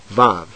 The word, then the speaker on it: vav: with the letter zain vav is pronounced like v as in vine or just like the